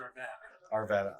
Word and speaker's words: Arvada: Well, we pronounce it Arvada.